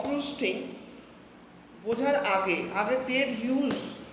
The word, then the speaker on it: Hughes: দেখ হক রুস্টিং বাই টেড হিউজ এটা উচ্চারণটা হয় হিউজ আচ্ছা আমাকে বল হক মানে কিচয় বাজ পাখি